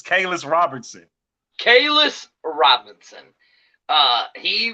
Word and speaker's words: Kalias: tonight we have Khalil how do you say coleus I know you can go messing up I knew it how you say his name it's Kaylas Robertson Kaylas Robinson uh he went to Alabama